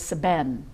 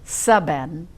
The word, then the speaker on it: seben: to a cobra, was seben. And Seben? Seben. But it didn't work if you said saben. It was seben.